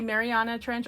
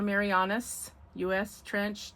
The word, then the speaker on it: Mariana Trench: And it is, you can say Mariana Trench or Marianis US Trench. They're both correct, so don't sweat it. However you pronounce is probably fine.